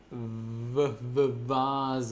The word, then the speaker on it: Vase: way just with a uppercase v and it's pronounced Vaz like it's really soft sound so most these